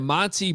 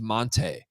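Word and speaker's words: Montee: senior year he's like no actually my name's Monte Monte ball you guys are pronouncing it wrong this entire time and I'm like well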